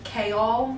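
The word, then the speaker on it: Chaol: I know that his name is pronounced Kol, but personally, he's just annoying to me, so I'm going to keep calling him goal.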